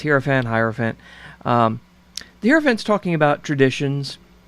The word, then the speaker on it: Hierophant: The Hierophant, and I hope I pronounce that. You know, I don't do this full time, so it's Hierophant.